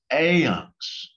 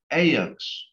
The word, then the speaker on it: ivnks: And you're going to add the IVNKS, which is once again pronounced AYUNX. AYUNX.